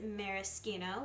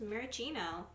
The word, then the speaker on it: maraschino: Next up is maraschino, which, by the way, I looked up the pronunciation of this word, and I've been saying it wrong this whole time. I thought it was maraschino.